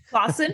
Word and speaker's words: Claassen: her to tell us about it so Andrea Clon I did I say it right Clon so yes yeah okay good I was like